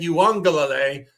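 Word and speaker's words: Uiagalelei: It's Trey Lance or DJ Yuangle. Shout out to my guy Guns Picks for teaching me that pronunciation three years ago when this kid was bouncing around college football.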